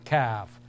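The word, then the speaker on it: كاف: next letter is called calf this one is pronounced in a flat manner calf c c calf lamb L lamb notice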